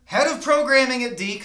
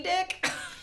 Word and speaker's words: DiC: Disney Dick? No, I don't think Walt's Frozen Head would go for that one. D. It's D. It's pronounced D.